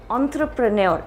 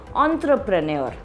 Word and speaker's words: entrepreneur: pronounce it as an entrepreneur it's it's coming from a french derived word so the word is entrepreneur all right the next